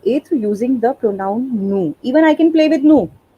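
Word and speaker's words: nous: through using the pronoun nu even i can play with no because n o u s is the spelling and s we don't pronounce so even i can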